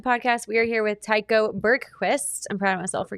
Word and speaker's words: Tycho Bergquist: It's exactly like it's spelled.